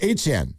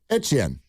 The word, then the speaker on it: Etienne: Well, he said his name is pronounced Etienne. Yeah. Etienne.